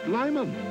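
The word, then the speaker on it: Lymon: and now back to our feature well if we can this is the legendary lyman pronounced lyman as in great climbing taste make half lemon half lime or is it half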